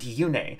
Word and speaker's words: Yune: money on the internet, the original English voiceover pronounced it Kyaneus and Yune.